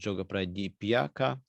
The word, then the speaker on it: Yoga Pradipika: known about yoga pradipika it is sometimes pronounced yoga pradi piaka it's a text of